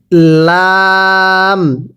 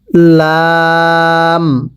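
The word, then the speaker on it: ل: এরপরে লাম, আমার সাথে পড়বেন কফ, কাফ, লাম। লামটা উচ্চারণের সময় উপরের ঠোঁট নিচের ঠোঁটের সাথে লেগে যাবে।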